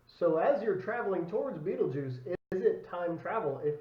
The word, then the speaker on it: Betelgeuse: you don't know it's the supermassive star it's pronounced Betelgeuse it's not spelled like the TV right it's